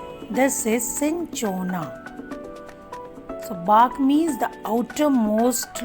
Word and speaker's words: cinchona: My dear students, learn the pronunciation. This is cinchona.